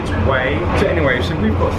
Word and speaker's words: Hue: So for tomorrow we're going to be waking up in Hue, which is spelled H-U-E. So it sounds like Hui, but or Hue, which I thought it was previously, but it's Way.